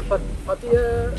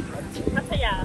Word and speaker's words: Pattaya: like to come to Pattaya. What do you guys call it? Pattaya. Pattaya. See, everybody gets mad at the way I pronounce it. I'll pronounce it the American way for this video, Pattaya.